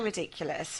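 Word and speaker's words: Riddikulus: Oh, it's so ridiculous, right? It's laughable. And it's pronounced ridiculous. yeah, it's the Latin ridiculous, isn't it?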